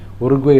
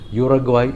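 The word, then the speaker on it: Uruguay: എന്ന് പറയുമ്പോൾ ഒരു പത്രം യുറഗ്വോയ് എന്ന് എഴുതുന്നു ഒരു പത്രം ഉറുഗ്വേയ് എന്ന് എഴുതുന്നു അങ്ങനെ പല രീതിയിലാണ് ഈ പേര് എഴുതുന്നത് നോക്കുമ്പോൾ ഇംഗ്ലീഷിലുള്ള ഉച്ചാരണം യുറാഗ്വായ് എന്നാണ് ആ നാട്ടിലെ ഔദ്യോഗിക ഭാഷയായ സ്പാനിഷിൽ അതിൻറെ ഉച്ചാരണം ഉറുഗ്വായ് എന്നാണ് ഇതിൽ ഏതാണ് ശരി എന്ന്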